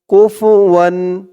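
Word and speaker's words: كُفُوًا: ফা পেশ ফু কুফু ওয়াও দুই জবর ওয়ান কুফুয়ান ওয়ালাম ইয়াকুল্লাহু কুফুয়ান আহাদ হামজা জবর আ হা জবর হা আহা দুই পেশ দুন আহাদ করার কারণে দালের উপরে দুই পেশ তানবিন সাকিন হয়ে গেছে উচ্চারণ হয়েছে আহাদ কুফুয়ান আহাদ ওয়ালাম ইয়াকুল্লাহু কুফুয়ান আহাদ ওয়ালাম ইয়াকুল্লাহু কুফুয়ান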